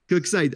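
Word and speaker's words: Koksijde: Alors, excusez-moi ma prononciation, le Brendené Coxide, classique, c'est ça? Coxide? La Coxide. Breden Coxside. Coxside. Ah, Coxside, d'accord, direct. Moi, j'essaie de le prononcer.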